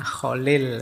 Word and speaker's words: Kahlil: Ini Kahlil Gibran, Kahlil, menggunakan huruf K bukan B. Saya khawatir Anda mungkin salah membacanya. Seharusnya dinamai Kholil, tetapi di Barat, nama itu menjadi Gibran.